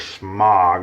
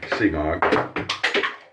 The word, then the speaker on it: Semogue: The little old semogue brush there, also known as smog, I think is actually the regular way to pronounce it. And I sometimes say semogue.